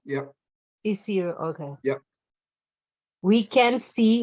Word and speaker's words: Isiro: Oh, no, I was just correcting the pronunciation. Isiro, yep. Isiro, okay.